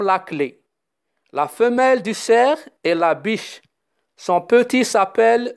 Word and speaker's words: cerf: gazelle et le cerf le fn ne se prononcent pas comme la clé la femelle du cerf et labiche son petit